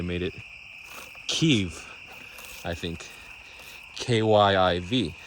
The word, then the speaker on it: Kyiv: In the 90s, they made it Kyiv, I think, K-Y-I-V. So the Ukrainian spelling and pronunciation, Kyiv. Kyiv.